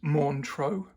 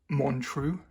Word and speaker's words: Montreux: of the brand uh so it's Monro not monu as it looks there a bit like when